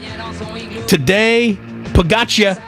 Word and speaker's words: Tadej Pogačar: The yellow jersey still being worn by Tadej Pogačar. I did work on the pronunciation of his name. Slovenian? Tadej Pogačar.